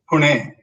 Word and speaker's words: Pune: It is spelled as Pune, but you pronounce it as Pune.